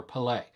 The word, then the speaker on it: Pelé: learned immediately is that i've had the emphasis on the wrong syllable my entire life this documentary tells the story of iconic footballer palais his quest for perfection